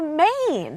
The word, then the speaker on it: mane: right that's called a mane so just by adding the e this a goes from sounding like aa like man into a like mane that's exactly right I